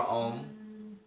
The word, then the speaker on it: Om: And remember, as we chant the mantra Om, we pronounce the 3 syllables, the A, the U, and the M, the U and the M.